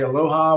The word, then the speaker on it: Aloha: so when we say aloha we mean love when we say love we mean aloha love that beautiful word okay and we really like it because it's three syllables right Aloha right and we know